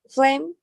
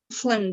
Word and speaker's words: phlegm: Okay, the word phlegm. Phlegm, the sputum. Is the correct the pronunciation? Phlegm. It's like phlegm. P and H sounding like an F. Phlegm, and you forget the G.